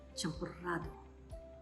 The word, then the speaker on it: champurrado: In Mexico, one can order champurrado. They spell it with a double R, and they have that Spanish trill.